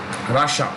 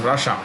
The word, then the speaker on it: Russia: sixth by population russia that's how you pronounce it rush and ah two sounds russia um you know the